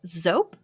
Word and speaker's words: Zope: We have Zope, spelled like soap with a Z.